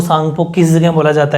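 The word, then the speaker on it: Tsangpo: silent रहेगा का यह जैसे अपन साइकोलॉजिकल थेरेपी साइलेंट रहते हैं वैसे ही सांगपो विस चुनाव में उल्टी साइड है वैसे भी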